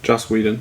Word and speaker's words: Joss Whedon: Is it Joss Whedon? Joss Whedon.